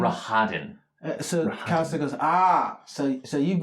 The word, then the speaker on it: Rahadin: Rahadin.